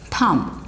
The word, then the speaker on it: thumb: say thumb num so bur sound is silent in these kind of words okay so the pronunciation is thumb it's thumb no bow at all